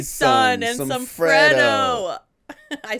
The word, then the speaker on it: Freddo: Oh my gosh, Box some of Capri Capri Sun and Sun, some some Freddo.